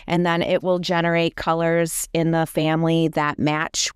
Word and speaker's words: Coolors: I don't know if it's Colors or Coolers, but it's spelled COOLORS and that generates color palettes.